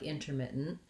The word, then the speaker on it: intermittent: The main stress is on this mit syllable, and that's going to be the syllable that's long, but there's a little secondary stress here you can see on the in syllable, and so because it's long enough to have more than one. So primarily focusing on that mit syllable as where your length is going to be and your stress is going to be is probably enough.